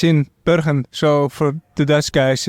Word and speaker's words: Bergen: You're from Bergen in the Netherlands, which is... Yes. Is that how you pronounce it? Bergen, yes.